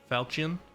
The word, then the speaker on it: falchion: Okay, with an emphasis on the first symbol. Falchion.